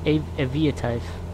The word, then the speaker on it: Aviatife: 99 but I think it's I've heard it pronounced I heard I've heard it pronounced Avia type the video type yeah I guess it would be really because it's Avia not EA so I guess it